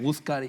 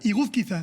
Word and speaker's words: Iguzquiza: Iguzcar... Iguzquiza.